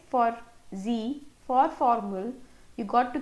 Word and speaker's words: sie: She of English is now sie. Now you have another z in German. She is sie. Sie. This z pronunciation.